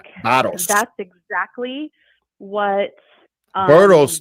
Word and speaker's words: Barros: Barros, don't say Barros because you're calling him a donkey. Don't do that. Oh, It's sorry. Barros. Tell me how to say it. Sorry. Barros. Barros. Barros. Okay. Barros. Barros. Barros. Barros. Roll the tongue. Barros. Roll the tongue at Nancy Joe. Barros. Barros. Like arroz con pollo, but with a B in front.